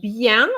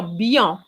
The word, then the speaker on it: bien: talking about je voudre bien so bien is already a problem because very often i hear beyond and it's not yeah oh i don't